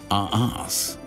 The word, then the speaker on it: Reims: The French, of course, pronounce it as Arras.